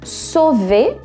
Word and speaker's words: sauver: Então, sauver, sou, na pronúncia, som de O mesmo, A, U em francês tem som de O, V. O R no final não é pronunciado, tá? Então fica sauver, que é salvar, e depois